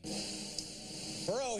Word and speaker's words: Perot: Perot, he's half Dole's age and half Clinton's weight. Number 9. Don't pronounce the T, but do pronounce him insane.